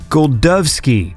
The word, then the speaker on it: Golczewski: time I say what the robot lady said, I'm kind of pronouncing it differently. But the main thing was the D sound.